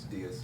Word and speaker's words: dais: How does it spell? D-A-I-S? Dais? It's dice. Diaz. Yeah, it's a dais.